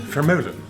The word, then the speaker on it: Vermeulen: Vermeulen Where are you from?